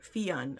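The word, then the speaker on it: Fionn: over here Fen sorry it it looks like it'd be Finn but she does she does provide pronunciation guides which is great so before I ever read the book I was like saying the name right from previous books cuz it's spelled f i o NN and it's Irish and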